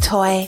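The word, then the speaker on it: Toi: conversations with toy and my name is toy but I go by toy and of course if you've been seeing the podcast artwork it is spelled t oi I am a Philadelphia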